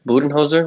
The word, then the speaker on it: Budenholzer: Yeah, I mean, I'm curious to see what the Bucks head coach Budenholzer, right? That's how you pronounce his name.